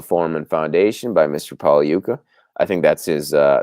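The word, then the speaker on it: Pagliuca: american english pronunciation is pogliuka but in italian the g is silent when it comes before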